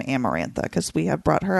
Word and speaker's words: Amarantha: Amarantha is the correct pronunciation.